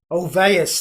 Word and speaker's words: Ulvaeus: Ulvaeus, that's right. Yes, it's the thing about Swedish language. It's so hard to pronounce in English a lot of times.